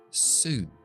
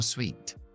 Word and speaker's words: suit: Y un traje o el verbo quedar bien es suit, suit, suit, no sweet, suit.